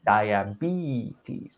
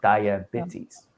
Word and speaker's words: diabetes: word dia and beaties i heard diabetes it was a long e diabetes not diabetes and there might have